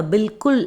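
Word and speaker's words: बिलकुल: ஸோ அதுக்கும் நம்ம பில்குல் அப்படி தான் ப்ரொனவுன்ஸ் பண்ணணும்.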